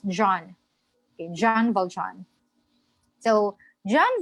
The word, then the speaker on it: Jean: In French, whenever you encounter this spelling, Jean, in the Philippines or in other countries, in American pronunciation, it's Jean, but in French, it's John.